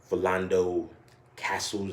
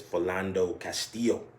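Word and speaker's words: Philando Castile: i think i said philando castles i think it is that's philando castillo yeah i mean and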